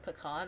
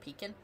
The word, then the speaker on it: pecan: Because I didn't say it like pecan. I used to call it peacin because it was easier and then people were like no.